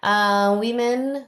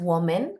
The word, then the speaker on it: women: Cuidado con la pronunciación de esta palabra porque no es woman, ¿de acuerdo? Es como si fuera una I en ambos. Women, women. Kind of an I, kind of.